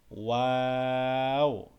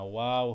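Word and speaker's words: واو: ফা, কফ, এই কফটা গলার ভিতর থেকে একটু ধাক্কা দিয়ে উচ্চারণ হবে। ক, কফ, কফ। ক্যাফ, লাম, মিম, নুন। ওয়াও, এটা ওয়া হবে না, ওয়াও হবে, ওয়াও।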